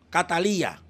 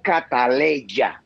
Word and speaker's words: Cataleya: O sea que el nombre correcto no es Cataleya, sino Catalía. No, papá. El nombre correcto es Cataleya. Ok. Es así, Cataleya.